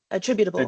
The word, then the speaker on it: attributable: is it it's attribut attributable attributable okay because I keep trying to go for a short a with the attributable so you can say